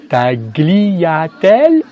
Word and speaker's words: tagliatelle: dit je vous rappelle qu'on ne prononce pas le g quand on a ce groupe de lettre g l et en italien on va donc dire lit et paris tagliatelles lorsqu'on a un mot